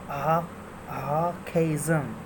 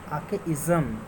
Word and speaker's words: archaism: The pronunciation, British pronunciation of this particular term is Archaism. Archaism. When we pronounce it in American way, it will be Archaism. R is silent here in British English.